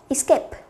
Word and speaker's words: escape: Escape, trọng âm của nó sẽ rơi vào âm 2.